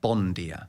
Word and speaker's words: bom dia: just an example of bom good morning is bom dia written but it's actually pronounced bondia yeah the first day